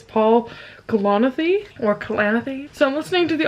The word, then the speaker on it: Paul Kalanithi: So I started When Breath Becomes Air, and I realized that I don't pronounce this author's name correctly. It's Paul Kalanithi.